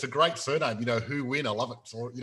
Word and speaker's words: Huynh: it's and it's a great surname you know who win i love it so you know now who